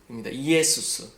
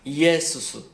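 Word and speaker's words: Ἰησοῦς: 이에수스. 그게 바로 예수죠. 근데 이제 영어는 그것을 지저스라고 발음하지만 사실 우리나라 말이 더 원어에 가깝습니다. 이에수스, 예수 이렇게 더 가깝는데요.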